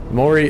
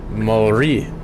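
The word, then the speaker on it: Māori: Maori with a rolled R.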